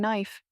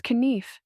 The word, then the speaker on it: knife: with an S furthermore I had no idea what K is doing in knife it's kenif it doesn't end here